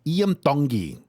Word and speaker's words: Iam Tongi: His name it's pronounced Iam Tongi. Yeah. Iam Tongi.